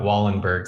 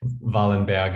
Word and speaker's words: Wallenberg: you for telling us the appropriate pronunciation of what we call hold your ears in america wallenberg syndrome valenbag is probably the correct um how the good doctor was uh called in in his time um fantastic so when